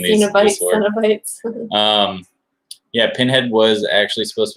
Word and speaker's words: Cenobites: Cenobites. Yeah, because it kind of sounds like Cenobites, like Cinnabon bites. Cenobites. Cenobites. Cenobites. Oh, okay. It's just a video of us saying this word. Cenobites.